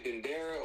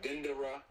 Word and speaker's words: Dendera: You can say Dendera or Dendera.